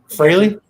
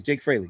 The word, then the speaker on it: Fraley: so uh I think Jake Farley I'm saying it right right Fraley Fraley wait who are you talking about Jake Fraley Jake Fraley you said it right yeah yeah Cincinnati